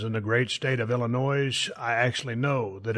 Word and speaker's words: Illinois: And yes, to everybody that lives in the great state of Illinois, I actually know that it's pronounced Illinois.